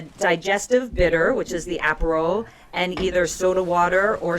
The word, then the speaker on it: Aperol: this move's head I you know done yeah apparel Spritz apparel apparel that's what I meant yeah